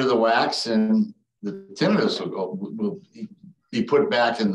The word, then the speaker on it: tinnitus: The most common cause of tinnitus and the preferred pronunciation, tinnitus is fine, but the preferred is tinnitus.